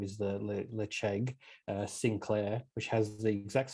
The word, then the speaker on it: Ledaig: Let's move across to Ledaig, or as I've heard pronounced many times, and I think I've also done it, Ledaig, as our Aussie accent likes to call it.